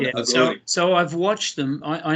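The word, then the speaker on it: Aghori: Agori.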